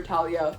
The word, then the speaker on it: Thalia: as I do for Talia because that's how I pronounce it in Spanish I don't care if it's Thalia I hate Thalia but